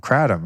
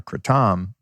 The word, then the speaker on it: kratom: other great plant medicine, kratom or kratom. A lot of people pronounce it different ways. I learned from a person from Thailand, they call it kratom.